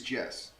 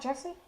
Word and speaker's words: Jesse: So my name is Jess. It's not Jesse? There is an E there, but it is just Jess.